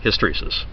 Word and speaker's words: hysteresis: not aware of it I'm going to explain hysteresis this is the correct pronunciation for it and it's often used as